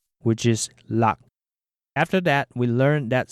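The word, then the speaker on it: 六: We then discussed the number 5, which is pronounced go, followed by 6, which is lak.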